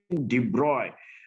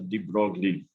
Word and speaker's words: de Broglie: So that is the most important thing, that de Broglie, the correct pronunciation, de Broglie. I do not know that, but in India we call him as de Broglie.